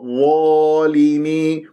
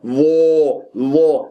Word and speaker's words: ظالمي: تعسف، فانتبه، الملائكة ظالمي، شوف ظالمي وليس ظو، طيب هي الظا مفتوحة، أنت تكور لي الشفاء ليش؟ انظر إلى المرآة وانظر كيف تقراها، ظالمي مفخمة مرتبة أولى مفتوحة بعدها ألف، الألف بعدها